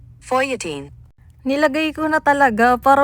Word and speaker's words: feuilletine: Foyatin. Tama yun. Huwag kang judgmental. Tunogm lang talaga pag ako'y nagpo-pronounce. Pakinggan niyo sa Google. Foytatin. Foyatin.